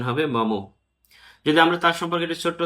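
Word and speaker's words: Maugham: এখানে উচ্চারণ খেয়াল রাখবেন মঘাম নয়। উচ্চারণ হবে মমো।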